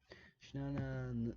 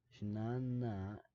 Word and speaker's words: Jnana: Jnana, there's a lot of invisible A's in between a lot of Sanskrit letters.